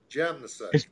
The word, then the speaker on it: Jamnisek: Jam in the sack. It's not jam in the sack, is it? Jam in the sack. Yeah, it's perfect. Awesome. J-A-M. Jam. Yeah. Spell it out for him, Ed. Jamnisek.